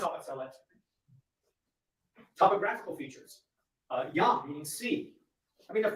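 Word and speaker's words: ים: So they borrowed the word Yam, meaning sea, pronounced in Hebrew Yam or in Phoenician as either Yom or Yum.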